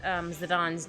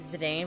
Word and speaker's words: Zidane: I said Zidane, but apparently it's Zidane. I'm like, I said it wrong the whole time. I had no idea. So I didn't know that's how it was pronounced.